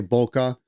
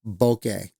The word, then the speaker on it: bokeh: Some people say bokeh, but it's technically pronounced bokeh.